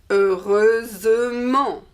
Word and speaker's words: heureusement: And so the adverb is heureusement. Heureusement. We hear the S like the feminine.